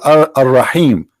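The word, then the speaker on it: الرحيم: They say Ar-Rahim because this is how it's pronounced, but the fact it is Al-Rahim, Al-Rahman, Al-Aziz, Al-Muhaymin, etc.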